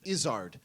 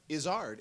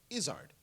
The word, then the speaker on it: Izzard: It's that it's the everyone- emphasis on the first half, the first syllable, but it's the second syllable is pronounced ard, not erd.